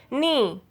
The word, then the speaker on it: knee: When K comes before N, then K is silent. Knee, new, knit, knob, knock, knot, no, knowledge.